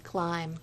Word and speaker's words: climb: The B is silent. Clam. Climb.